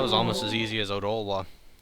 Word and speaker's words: Odolwa: That was almost as easy as Odolwa. I guess it would be Ottawa or something, since there's no reason to pronounce the first O like O, but whatever.